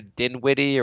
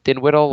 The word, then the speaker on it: Dinwiddie: Yeah, which the and the skills competition went to Spencer Dinwiddie or whatever. How do you pronounce his name? Dinwiddle or?